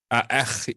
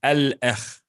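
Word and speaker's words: الأخ: Because try to say it is not gonna it's gonna be hard to pronounce. A'akh is like, you know, a'akh is not gonna work. So it's al-akh. Oh, I'm sorry.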